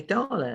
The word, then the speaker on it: Darla: say uh you say darla and if you can say carla you can actually say darla too so she gave me